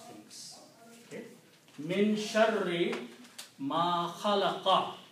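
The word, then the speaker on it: خَلَقَ: But if you want to continue, you will have to pronounce min sharri ma khalaqa.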